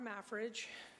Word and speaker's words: Mafrige: Hall next speaker Midge my fridge my fridge MAF thank you it's been pronounced many ways my name is mafrige and I'm a native eonian and a business